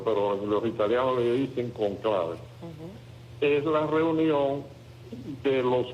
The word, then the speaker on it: conclave: Llave en italiano llave y en español se dice cóncave, pero los italianos le dicen cónclave.